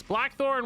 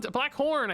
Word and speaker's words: Blackthorn: Blackthorn one. Black Horn. I keep saying his name wrong.